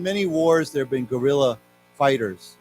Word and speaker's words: guerrilla: Now, of course, again, these words are pronounced the same, but they're different words. Okay, so why don't we say together, guerrilla, gorilla, gorilla.